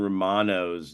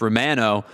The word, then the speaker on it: Romano: I guess it's how Canadians pronounce the name, and he's been very adamant about it's Romano, not Romano. Romano.